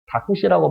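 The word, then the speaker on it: タクシー: 택시 발음이 안 돼가지고 일본어로는 다쿠시라고 발음합니다.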